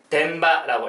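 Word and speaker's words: 電場: 전기장이다라고 하고 일본어로는 덴바라고 읽어주시면 되겠습니다.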